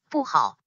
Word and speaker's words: 不好: If the immediate word has any tone other than the fourth tone. For example, 不好, 不 remains in fourth tone, as 好 is in third tone.